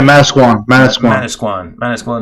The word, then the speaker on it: Manasquan: from Manasquan, New Jersey. Did I say it right? Yeah, Manasquan, New Jersey.